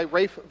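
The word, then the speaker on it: Ralph: was Se songs by Rafe Williams which is actually how you pronounce his name as he is very English and this year that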